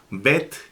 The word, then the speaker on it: Bet: Bet, cuya fonética es B de bueno en español. Fíjense que tiene un puntito en medio, entonces se debe de pronunciar la B con énfasis.